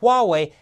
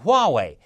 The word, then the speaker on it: Huawei: that he kept mispronouncing Huawei its Huawei with an H people it's not Huawei stop